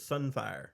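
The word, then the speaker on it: Sunfyre: I'm sorry, we're saying the name wrong. That dragon we're talking about's there. It's Sunfire, Sunfire, okay.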